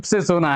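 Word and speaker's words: tsetse: किसके करण होती है सीसी फ्लाई ये है देखिए ये सी सी फ्लाइट है थी इसमें टी जो है साइलेंट होता है और है जो है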